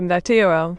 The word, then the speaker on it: Meteora: Well, my name is pronounced Meteora, just like the song by Linkin Park.